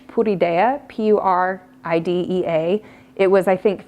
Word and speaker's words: Puridea: So this one, if you want a good recommendation, the brand is, it's made in China, but I pronounce it in Spanish, Puridea, P-U-R-I-D-E-A.